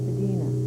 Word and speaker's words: Spadina: Spadina, originally pronounced Spadina, was derived from the Ojibwe word Spadina, meaning land higher and higher.